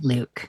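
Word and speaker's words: Luc: L-U-C, Luke. Luke. Kind of a French spelling.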